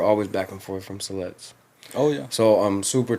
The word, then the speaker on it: Siletz: Well, I know, just had a quick memory that I seen something recently about Siletz, is that how you say it? Siletz. Siletz. Mm-hmm. Siletz is, they won some land back.